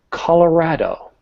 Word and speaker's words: Colorado: Yeah, this word is one of those very simple words. And when I say simple, these syllables are basic. You have a consonant and a vowel. So co or colorado.